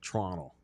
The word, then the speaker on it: Toronto: You don't you don't pronounce the second T. It's Toronto.